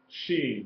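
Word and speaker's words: שׁ: When you see the letter Sheen and it has a dot on top of it to the right, it is pronounced Sheen. The sound is SH, Sheen. If the dot is on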